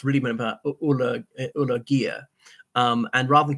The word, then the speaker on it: Alagaiah: People couldn't pronounce his name, which he said is something like pronounced really Ulagaiah. And rather than correct people all the time, he just went with Alagaiah, which is a version of it that people found easiest to pronounce.